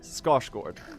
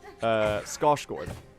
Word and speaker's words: Skarsgård: Well, Skarsgård. I'm Swedish. I can pronounce it right.